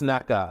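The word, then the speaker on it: Nneka: know what honestly I I want to know I am going to see if I can find out the proper pronunciation the proper pronunciation of her name give me just a second her name is Naka sorry about that guys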